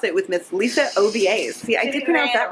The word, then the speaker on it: Ovies: Jessica's not gonna say it cause she's gonna mispronounce it with Miss Alicia obas yeah I did that right you did you